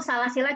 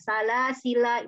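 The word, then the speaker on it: سلاسلا: Jadi ketika wasol salasila pendek. Ketika wakafnya boleh dibaca seperti wasolnya, tapi tentu saja karena wakaf lamnya jadi sukun. Salasil atau dipakai alifnya sehingga panjang. Salasila itu boleh.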